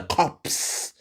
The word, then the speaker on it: corps: So the p and the s are silent because it's a French word.